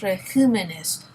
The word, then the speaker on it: regímenes: Los regímenes. You hear where you sort of jump on that I? That's where the tonic syllable is.